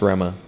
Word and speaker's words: Rema: that's how it's pronounced it's actually pronounced Rama yeah so we were